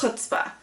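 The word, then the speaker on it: chutzpah: Heart you have gumption hutzpah guts you Dar to love where others only see pain oh excuse me if I pronounced incorrectly it's huta you dare to believe that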